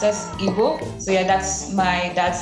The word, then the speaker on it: Igbo: The Nigerian language is pronounced as Igbo.